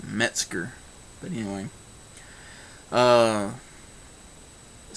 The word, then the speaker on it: Metzger: you know that uh he's always saying bruce mexinger like it's got an ing in there somewhere and it's metzger but anyway uh it